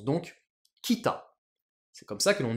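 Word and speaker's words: 北: seul CJ donc réflexe il faut utiliser la lecture purement japonaise donc je vais l'écrire bien en kilagana et ça se prononce donc Kita c'est comme ça que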